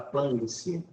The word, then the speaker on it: planície: E a palavra paroxítona é quando a tonicidade recai onde? Na penúltima sílaba, aqui. Ó. E essa palavra planície, ela é acentuada por ser uma paroxítona que termina em ditongo.